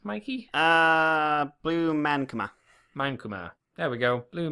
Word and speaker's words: Blue Mankuma: We have an announcement for a guest for Blue Makuma. Is that how you'd say his name, Mikey? Blue Mankuma.